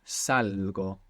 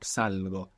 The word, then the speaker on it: salgo: Now, I leave or I go out is salgo. It's irregular. Has the g. sound popping up, salgo.